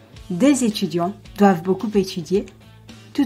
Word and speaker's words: des: Note that in front of a vowel or a silent H, des is pronounced des.